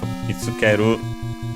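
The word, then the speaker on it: 見つける: So the te form of mitsukeru is mitsukete. Reminder also that when e and u are between two unvoiced consonants, they're barely heard if at all. So in this case, the u of ske, mitsukeru, mitsuketa.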